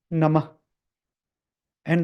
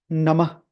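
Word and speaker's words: नमः: and the last part namah and the right way to pronounce this is om not om not om om and then the last one namah not namaha namaha is a wrong pronunciation or namaha is also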